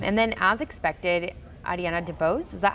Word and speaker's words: DeBose: And then, as expected, Ariana DeBose, is that how you pronounce her last name? Yeah, DeBose, yeah.